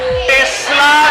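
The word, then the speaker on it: tesla: टेस्ला metre divided by, pronunciation सही से करो, टेस्ला नॉट टकला।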